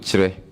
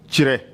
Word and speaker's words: Kyere: I pronounce it Chire. Chire.